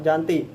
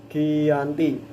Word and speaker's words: Giyanti: lokasi penandatanganan perjanjian yakni di desa Janti dalam pelafalan Belanda ia tersebut sebagai Giyanti dan secara tertulis dia terbaca sebagai Giyanti tempat tersebut dikenal sebagai